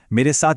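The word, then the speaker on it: merci: मेरे साथ बोलिए बॉन्जूर, एक साथ बॉन्जूर। बहुत अच्छे। ठीक है, अगला शब्द है मर्सी। याद रखिए आखिर में ई की शार्प साउंड है। बोलिए मर्सी।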